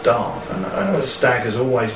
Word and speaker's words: Damh: Well, it's pronounced Darv officially.